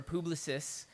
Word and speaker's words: Publicis: It's going to be hosted by Publicis Modem, or Publicis, if you're going to go by the French pronunciation.